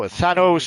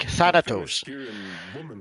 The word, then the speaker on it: Thanos: had to specify that no no Thanos is the the actual way you pronounce a name and it's been like that forever because it comes from the Greek Thanos but it it somehow